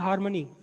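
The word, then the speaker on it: harmony: हार्मनी, आर इसमें silent होता है, हार्मनी समझते हैं क्या होता है?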